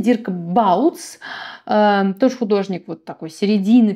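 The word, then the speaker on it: Dirk Bouts: да следующий такой интересный дикбаут вернее его правильно произносить дирк балдс тоже художник вот такой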